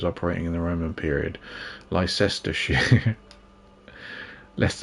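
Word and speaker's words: Leicester: in the Roman period Lester Le how do you say that leester here it's leester here is it not Lester here London WI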